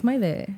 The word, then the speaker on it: Maite: crazy because she like a lot of people mispronounce her name, and like Okay. they'll be like some people will say like Maite or like, but it's just like she's like it's Maite. It's Right.